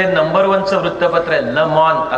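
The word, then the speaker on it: Le Monde: number वनच वृत्तपत्र आहे लमन असं त्याच नाव आहे लमन स्पेलिंग होताना एम एन डी होतात उच्चार फ्रेंच उच्चार फ्रेंच भाषा सौम्य गोल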